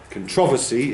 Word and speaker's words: controversy: This one has more than one correct pronunciation in English, so it depends how you say it. Controversy is how I've transcribed it.